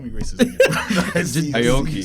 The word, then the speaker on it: Aoki: press release that came out from DJ Steve Okoye. That's how you say his name? I mean, I guess. Bro, don't call me racist again. Steve- Aoki.